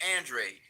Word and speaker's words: Andrade: it was he did he avoid facing Demetrius Andre absolutely did he avoid facing no let me